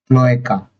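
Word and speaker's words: cloaca: ऐसी कंडीशन में हम बोलेंगे क्लोएका। स्पेलिंग थोड़ा अलग है लेकिन क्लोएका बोलेंगे।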